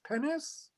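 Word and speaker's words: Pines: translation is someone whose name is spelled p-i-n-e-s pennis from the university of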